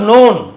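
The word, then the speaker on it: known: हु वाज़ नोन जो जाना जाता था। के साइलेंट है तो नोन तो नो का नोन है ना फॉर ह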